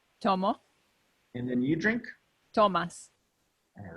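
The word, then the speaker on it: Tomás: - Toma Gomez professor no it's pronounced ah Tomas Tomas Tomas own a cerveza your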